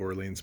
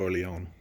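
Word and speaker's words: Orléans: it both ways I figure people are gonna read it like maid of Orleans most the time such as what I say but so you're aware made of or Leone is more the right pronunciation pronunciation frankly I may not even be doing it right but it's French you get the idea it's kind of like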